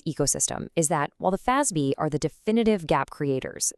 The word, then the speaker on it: FASB: Most of us just call them the FASB, pronounced FASB.